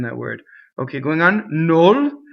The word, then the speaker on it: nol: Nol is no plus il, but it becomes closed. Nol, N-O-L.